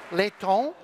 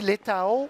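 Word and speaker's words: Leitão: Et parmi ce groupe, il y a le nouveau ministre des Finances, Carlos Letón. Vous allez m'excuser la prononciation, Letón. On dit Letao Ça tout à l'heure, mais pas de problème.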